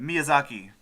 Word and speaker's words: Miyazaki: to say it title try to say it Miyazaki oh it isn't music hockey look I pronounced it right great yeah so the miyazaki